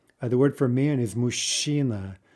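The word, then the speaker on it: мужчина: word for man is mushina right also a very unusual combination i can't even think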